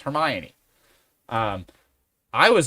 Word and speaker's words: Hermione: someone else realized that the way you were pronouncing Hermion like we've all just come to to say it's Hermione um I was like